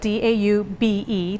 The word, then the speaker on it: daube: It's spelled D-A-U-B-E, daube.